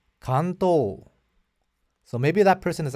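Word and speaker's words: 関東: to be helpful said you pronounced Kanto incorrectly the correct pronunciation according to the person is Kanto but I'm 1,00% sure that I'm right according to the Tokyo dialect it's Kanto I asked this young person where are you from and they said I'm from Nagoya ah so maybe Nagoya they pronounce it that way but in Tokyo it's Kanto and when I said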